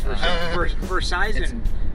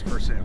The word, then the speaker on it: Versailles: Yeah, it's Versailles because we pronounce it correct. It's Versailles it's a French word. Bro. That's correct. But it's still French. We don't pronounce it that way here, though. It's Versailles.